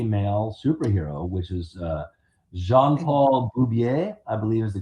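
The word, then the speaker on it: Jean-Paul Beaubier: So, John Burn also created the first gay superhero, the first gay male superhero, which is uh Jean Paul Bubier, I believe is the correct pronunciation of the character's name.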